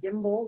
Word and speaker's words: Gimbel: And my last name is Gimbel, like the department store that went out of business, Gimbel.